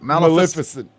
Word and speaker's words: Maleficent: Maleficent.